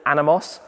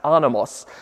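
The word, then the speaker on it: Anemos: the car I think in English you'd probably call it anamos because of the literal way to pronounce that the Greek word it's a Biblical word basically I believe pronounced anos which means wind or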